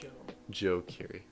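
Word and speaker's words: Joji: Joe Ki Joe Kiri it's not Joey it's Joe Joe Ki sorry my bad like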